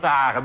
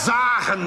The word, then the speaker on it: zagen: Jij spreekt er nou net uit als Rob de Nijs. Je zegt ook zagen, dus niet goed, hoor. Het is zagen met een zet, hoor.